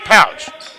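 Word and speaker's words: Pautsh: It's spelled P-A-U-T-S-H, but it's pronounced Pouch.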